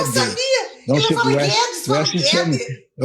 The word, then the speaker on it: Guedes: Não ele sei, fala Guedes, fala Guede. É quase como se fosse uma sofisticação da língua francesa, que nunca pronuncia o S no fim.